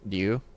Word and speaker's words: Ryu: of the background of, in Japanese, his name is pronounced Ryu. It's kind of like a Japanese R is like an L and an R kind of mix. So Ryu is how you pronounce it.